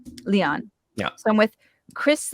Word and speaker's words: Lyon: So, but what is the preferred pronunciation of your pen name? Generally Lyon. Lyon.